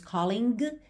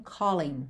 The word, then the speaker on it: callin': não é pronunciada então quando a gente tem Colin o final é NG mas você não é pronunciado a gente não disse colang e sim Collen certo e aí especialmente